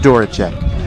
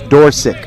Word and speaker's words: Dorsic: correctly i was not i was told two years ago that it was doracek that's wrong it's dorsic dorsic and you know the